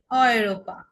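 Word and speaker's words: Europa: যেমন এক্সাম্পল হচ্ছে অয়রোপা। অয়রোপা মানে আমরা ইউরোপ বলি, সেটাকে ওরা অয়রোপা বলে।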